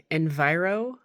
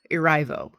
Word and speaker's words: Erivo: the main gal, Cynthia, I keep saying her name wrong, Enviro, Erivo. It starts when the Wicked Witch has died, okay?